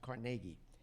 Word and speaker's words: Carnegie: His name is pronounced Carnegie.